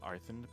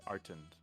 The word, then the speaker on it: Artund: Because I remember someone mentioning I was pronouncing it wrong. Yeah. I believe it was actually Yggy or Nephi. I don't think it was me, but they're correct. Just Artund, correct? Right.